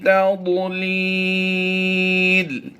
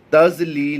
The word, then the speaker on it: تَضْلِيلٍ: ضاد اردو تلفظ ہے، عربی تلفظ جو ہے قرآن پاک پڑھنے کے لیے جو تلفظ استعمال کیا جاتا ہے وہ ہوتا ہے ضاد۔ فی تضلیل، لام کو